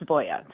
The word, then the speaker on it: Voie: And in Norway, it's spelled WOIE, but it's pronounced Voya. So it's very Norwegian. It's not French.